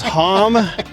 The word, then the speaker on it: Hamm: The name is Hamm. Ham is what you eat.